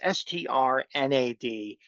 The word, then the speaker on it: Strnad: You've heard of this person, but it's Strnad, and I'm just assuming you say every letter in that name.